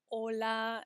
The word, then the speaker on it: hola: Notice that we don't say the letter H in Spanish, right? When we say the words hola and hasta luego and hasta mañana, we're not pronouncing that H.